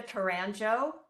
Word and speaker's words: Taranjo: my name is taranjo it rhymes with banjo and you will get